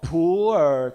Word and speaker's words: Pu'er: It is coming up in typical Chinese pronunciation, Mandarin pronunciation. It's called Pu'er cha, Pu'er tea. But with your typical intonation, it may become a poor tea.